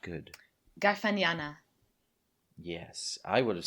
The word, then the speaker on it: Garfagnana: Garfagnana. Yes, I would have said Garfagnana, but It's like Garfagnana- lasagna.